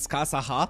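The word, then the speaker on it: Scáthach: You can just Japanese it Skasaha. Skasaha is the Japanese pronunciation.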